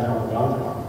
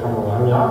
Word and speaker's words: Kamalanga: And to see that, unfortunately, our own mob back in Kamaganja, or what I call Kamalanga, because that's what my great-grandmother just told me, that's the correct pronunciation for it.